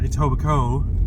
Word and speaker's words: Etobicoke: Actually pronounced Etobicoke.